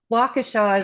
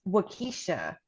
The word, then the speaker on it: Waukesha: Waukesha is another tough one. Waukesha is always Waukesha. pronounced Waukesha by those that don't know.